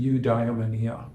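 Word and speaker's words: eudaimonia: true God inner God they called it UD demoni some people pronounce it udonia either way is fine but UD demonia means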